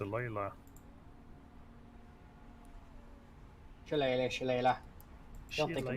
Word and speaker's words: Shillelagh: I had a friend who called that Shalagla. Shalaglog. Shalagla. I'm gonna actually check what it's pronounced. It's Shillelagh. It's Shillelagh. Like an Irishman word.